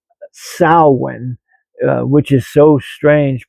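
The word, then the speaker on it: Samhain: a m h a i m but it's pronounced sin uh which is so strange because if you were to look at that word it would you would you you want to say samhane is what you would want to call it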